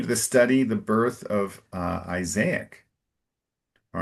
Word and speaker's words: Isaac: And in English, it's Isaac. So a little more of an emphasis on the first A. And it's very rare in English. You have a word with two A's in a row.